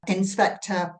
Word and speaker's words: Inspectre: One of which is called Inspector Paranormal, but that is spelt INSPECTRE. So inspector, as in, the word spectre, which is a really cool way of pronouncing it, a cool way of describing the show.